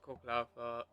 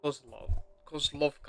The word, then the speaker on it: Kozlovka: Back to coke lava. No, Kozlovka. I keep mispronouncing.